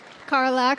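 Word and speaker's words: Karlach: We have Faye Wolf Designs as Carlatch. Is that how I'll have you say that name for us. Huh? How do you say the name? Carlac from Baldur's Gate.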